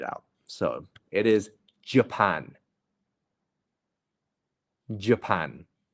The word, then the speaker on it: Japan: so it is Japan Japan make sure that you're putting the stress on the second syllable um and you're falling off the J Japan very good very